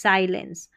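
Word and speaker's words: silence: अब इसको SI को C नहीं पढ़ना है, साई फिर lens, LENCE lens, साइलेंस। साइलेंस का मतलब होता है चुप्पी, मौन, ठीक है।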